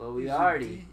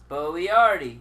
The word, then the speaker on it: Boyardee: In fact, a even more easy to read sort of breakout. That's BOY-AR-DEE. Boyardi is right next to it. Literally an inch away. Yeah, but this one says Boyardi. His name, it's pronounced the same way.